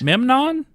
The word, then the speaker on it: Memnon: Say it right. Memnon. I think it's Memnon.